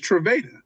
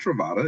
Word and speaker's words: Trava: I'm like, "Nah, it's Trava. It's Trava. Not Travata.